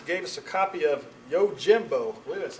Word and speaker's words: Yojimbo: Um, Barebones Software gave us a copy of Yojimbo.